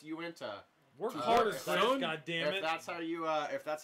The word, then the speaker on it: Uinta: that's you so it's Uinta no god damn it that's how you if that's how you pronounce it it's you in uint8 it's their lime Pilsner